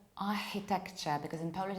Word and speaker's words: architecture: The correct pronunciation of this word is architecture in British English and architecture or even architecture in American English. So it might be ch, architecture, or it might be sh, like architecture. But what is the most important here is to realize what constitutes a problem. And here this is k sound.